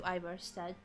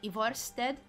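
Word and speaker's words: Ivarstead: We're going to Iverstead. I always want to say it, like pronounce it in the Hungarian way of like Ivorsted. But that would be strange.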